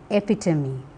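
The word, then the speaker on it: epitome: two words come and epitomy the final e is silent in come whereas it is realized as e in epitomy I can give you inumerable examples to show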